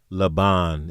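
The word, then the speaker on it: לָבָן: The Hebrew word for white is laben or in, you know, Hebraically speaking, la laben or laban is how they saying it's pronounced in the Strongs.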